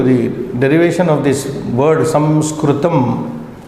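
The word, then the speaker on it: संस्कृतम्: derivation of this word Samskritam. But in English, Anglicized way of saying Sanskrit. In colleges and universities, we only say Sanskrit, but that is not the correct. Samskritam, that which is being refined.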